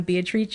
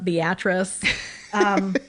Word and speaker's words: Beatrice: that is called Beatrice, or in Italian, Beatrice is how it's pronounced. Or if you're from Nebraska, Beatrice. There's a town in Nebraska called Beatrice.